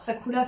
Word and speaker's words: Sakura: qu'il fait j'adore et Sakoura al sakoua festival pour si on veut prononcer à la japonaise parce que les r se prononcent au Japon Saou à festival voilà